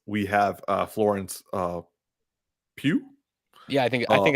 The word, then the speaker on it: Pugh: on the right we have uh florence uh pew yeah i think i think that's how you say it no okay florence pugh i'm a big fan of her we're all